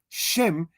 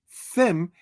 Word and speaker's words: Shem: Shem is the Hebrew word. Sem is the Greek transliteration of such. Since Greek does not have a sh syllable, it is thus in metathesis said as Sem instead of the Hebrew Shem.